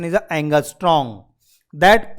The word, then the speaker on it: angstrom: That is called, and that pronunciation is a angstrom. That pronunciation is a angstrom.